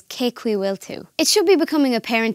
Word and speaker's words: Cén chaoi a bhfuiltear: While it is written as Cén chaoi a bhfuiltear, it's actually pronounced as Cé chaoi bhfuiltear.